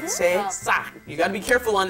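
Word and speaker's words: 새싹: called sesak. Bibimbap, right? Sesak. You gotta be careful on that pronunciation there.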